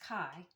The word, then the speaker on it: Chi: The kai was a chi but it's pronounced kai and the stigma or sigma which represents the six.